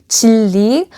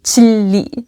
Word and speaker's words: Jinri: So the proper way of saying my name in Korean is actually Chili, where the N is essentially silent. Chili.